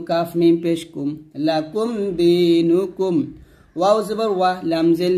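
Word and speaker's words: دِينُكُمْ: পেশ নু দিনু কাফ মিম পেশ কুম লাকুম দিনুকুম ওয়াও জবর ওয়াহ লাম জের লি ইয়া জবর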